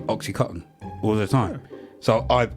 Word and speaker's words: OxyContin: it to be called oxycotton because of the way Americans pronounce it they don't pronounce the n I've never heard an